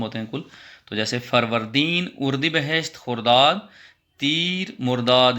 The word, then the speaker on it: فروردین: غور سے دیکھیے، جیسے میں تلفظ کی ادائیگی کروں گا تو اسی طرح سے آپ کو بھی آنا چاہیے. فروردین.